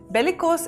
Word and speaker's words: bellicose: Bellicose is like belly plus co.